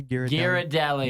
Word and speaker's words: Ghirardelli: number two though the Ghirardelli chocolate Hearts is how you say Garrett Deli Ghirardelli's incredible chocolate yeah